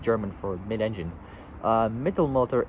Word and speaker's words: Mittelmotor: Mittelmotor is spelled Mittelmotor, or just I'll say Mittel and then motor. So Mittelmotor, put it together as Mittelmotor, or mid-engine, as right,